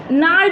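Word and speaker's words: gnarled: सी बीमारी है यह नाल डिसीज यहां पर साइलेंट रहेगा नोडी चीज है यह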